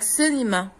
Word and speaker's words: cinema: what about a word like cinema okay the c is pronounced as s okay a word like music